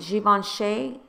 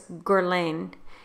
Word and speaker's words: Guerlain: Seasons the bronzer by G Vaughn Shea actually actually it's not a g1 shake its Guerlain and I think that's how you say it Guerlain and I'm